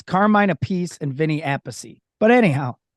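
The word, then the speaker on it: Carmine Appice: right because Carmine is Carmine a pece and Vinnie is Vinnie Apache they like separate the pronunciation of their same name even though they're related correct I believe they're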